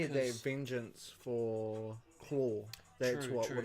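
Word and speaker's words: Klaue: Look at the way they spelt Claw. Must be South African. Must It be is Claw. That's Claw. how they say it.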